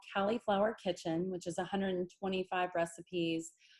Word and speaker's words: Cali'flour: And then let's see, Califlour Foods. It's spelled like California because that's where we originated.